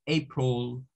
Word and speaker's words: April: La A de ese mes se dice A, es un sonido largo, April, pero la I no se dice como, o sea, si usted me dice April, lo está diciendo mal, porque lo está leyendo todo en español.